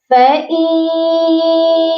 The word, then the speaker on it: فَإِن: باللہ من الشیطان الرجیم، بسم اللہ الرحمن الرحیم۔ فَإِن يَكُن مِّنكُم مِّائَةٌ صَابِرَةٌ يَغْلِبُوا مِئَتَيْنِ۔ سب سے